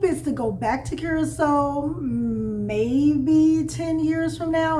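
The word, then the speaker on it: Curaçao: We always said it wrong. Curacao. But I think it's called... They said that it's officially, the correct pronunciation is Curacao. Curacao.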